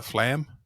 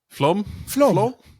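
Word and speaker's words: Flåm: And and I know about half the team ended up going to Bergen and I'm going to mispronounce it. Uh Flam Flom.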